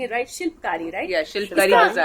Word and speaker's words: Shilpkari: इफ आई लेट me know if आई am pronouncing it right, शिल्पकारी, right?